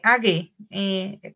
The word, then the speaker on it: age: Haz de cuenta que la pronunciación en realidad al final es una G, que para nosotros es un poquito ese sonido al final, es age.